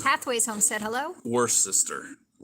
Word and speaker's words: Worcester: spelled pathways homestead hello worst sister like the sauce right it's the sauce without the shire yes you know how